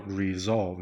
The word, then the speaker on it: resolve: Night Live ORTV，你就会看得到空中英语教室所提供的免费教材。好，我们今天上第12课。那12课，如果你觉得你的英文程度还不行的，你可以先点中文的这个教材哈，先把它打开。那先把中文的部分先读一遍哦，先熟悉它这个教材的中文版本哦。那读完了之后，再来读英文版本的。那我先把这英文字先做一次的pronunciation，让大家知道说这些字怎么念。好，第一个是 get along，和平相处，相处和睦。resolve，后面发音那个 V 要出来，resolve 不要 resolve，然后后面 V 没有出来，resolve。conflict，后面的 t 的音要出来哈，虽然是很轻的音，但是它还是有 conflict。冲突